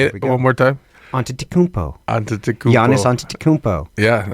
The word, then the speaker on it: Antetokounmpo: I mean, of course, you hear stories about didn't Giannis Antetokounmpo not even start playing basketball until he was 15 or 16 or something.